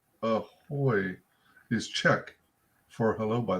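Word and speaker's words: ahoj: wait ahoy oh okay so oj is an oi sound ahoy is check for hello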